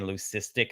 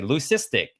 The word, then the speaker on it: leucistic: It's a hard K, like leukocytes, like white blood cells, like leucism. It's not leucism. And even on the internet, if you don't go to like the third like way to pronounce it, they'll say leucistic. It's not it's leucistic. It's like leukemia, right?